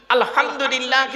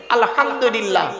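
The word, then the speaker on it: الحمد لله: গিয়ে আমরা কি বলি আলহামদুলিল্লাহি রাব্বিল আলামিন বলি না আলহামদু এই গলার ভেতর থেকে হে এটা উচ্চারণ করবেন আলহামদুলিল্লাহ এর মানে হচ্ছে সমস্ত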